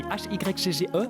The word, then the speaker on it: hygge: Ça s'écrit H-Y-G-G-E, mais ça se dit hygge.